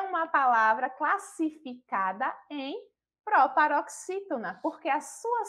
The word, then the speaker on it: proparoxítona: E quando percebemos e identificamos a sílaba tônica, novamente, pela própria presença do acento agudo, a gente já identifica que é a sílaba formada pelas letras X e I, não é?